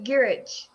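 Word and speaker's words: Gyrich: Peter, how do you pronounce his last name? Gurich? Oh, Henry Peter Gurich.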